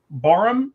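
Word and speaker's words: Barham: Um, Barum, B A R H, I believe is how you say it.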